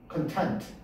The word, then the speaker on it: content: 근데 액센트가 뒤에 있지. content.